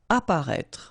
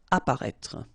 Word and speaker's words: apparaître: Apparaître. Okay, so exactly the same situation here with this circonflex. You don't pronounce it. Remember to write it, but you don't pronounce it. Apparaître.